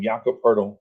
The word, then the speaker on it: Jakob: yeah oh i'm sorry not jacob but jacob i think he pronounces his name jakob right and he's the